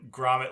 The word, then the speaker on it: Gromit: Wallace and No, Gromit.